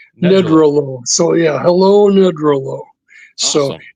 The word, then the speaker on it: Nedrelo: So, I was hoping maybe you could and first know how to pronounce your last name. Sure. It's neolo. Needralo.